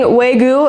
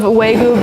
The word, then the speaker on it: Wagyu: I'm using Wagyu. I think that's how you pronounce it.